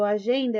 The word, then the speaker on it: agenda: Notem que esse G do agenda, ele faz quase um som de D.